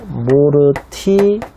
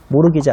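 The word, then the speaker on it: mortgage: 모르티기지. 티 발음은 묵음이고요. 모르기지 아세요?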